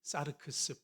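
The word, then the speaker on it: σάρξ: 사르크스는 제 발음을 어떻게 하느냐에 따라서 사르크스라고 할 수도 있고 그냥 사르크스 분절해서 불러도 좋습니다.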